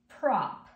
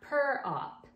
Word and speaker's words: prop: Prop. Pr-op. Try to hear all the sounds. Pr-op. Prop. Notice it's not per-op. It's pr.